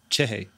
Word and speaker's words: Cerri: I want to add like too many syllables to it. Uh-huh. It's spelled C-E-R-R-I. So I wanted to say Cerri, but because I don't have a good Brazilian accent.